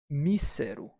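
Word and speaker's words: 見せる: or to look at however in this form it's me sir and it means not to see but to show to display here we have the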